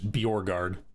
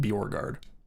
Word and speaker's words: Borgard: And the way that I explain it to be pronounced is be your guard. All one word. Like it's three words. Be your guard. Combine it into one word. Borgard.